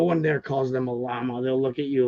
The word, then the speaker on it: llama: So it's llama because 2 L's is a Y.